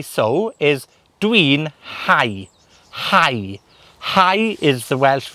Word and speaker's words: hau: that 'Hau' is spelled h-a-u and in many languages the u sound is is formed like a 'oo' or a 'ooh' sound but in Welsh it's it's pronounced as an 'I' sound so 'Dw i'n hau'